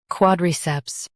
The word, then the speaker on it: quadriceps: Quad, ceps, quadriceps, quad, ceps, quadriceps. Stress quad and keep ceps clear.